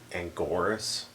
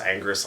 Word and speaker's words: Anguirus: He didn't really kill Anguirus, who they kept calling Angoris. Anguirus or something. Yeah, well, his name is pronounced Anguirus like every other movie.